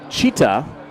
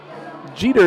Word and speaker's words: Jeter: captain number two Derek cheetah which is actually a lot like the late Bob Shephard used to pronounce his name cuz he's number two Derek cheetah number two Jeter is very close to cheetah and then Ichi Roach